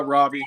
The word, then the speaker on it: Rabe: Well, I guess everybody, this Rabe, he owns Rabe, right? Am I saying it right? Robbie. It's all right. I think Robbie. People in my whole life done it right. Yeah, everybody says that.